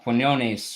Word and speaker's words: Quinones: know, people like Pete Quinones, or however you pronounce his last name. I'm probably Quiznos. butchering it. You pronounce it Quiznos, Quiznos. yeah.